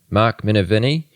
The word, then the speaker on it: Minervini: already kind of mentioned, Mark, how do I pronounce his last name? Minervini? Mark Minervini?